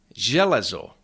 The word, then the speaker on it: železo: Jealo.